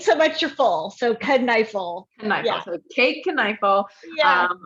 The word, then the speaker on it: Kneifel: It's Kneifel, and this is what I always say. I always say the K is hard, and then think fork and knife.